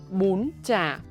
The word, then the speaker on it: bún chả: Apply the high raising tone on bún and the sharp, short, high tone on chả. Pronunciation mechanics. Step-by-step guide. The word bún chả, 2 syllable.